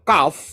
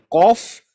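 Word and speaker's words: כף: Jadi ini benar ya, bukan Kof tapi Kaf ya.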